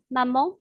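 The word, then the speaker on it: 妈妈: Mais quand on dit des mots, par exemple maman en chinois, on dit mama. La première syllabe ma possède le premier ton, alors que la deuxième syllabe ma est un ton neutre sans indicateur.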